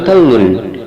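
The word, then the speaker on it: كَلٌّ: Yang ke-11, lafaz wa huwa kallun, surat An-Nahl ayat 76, kafnya dibaca fathah.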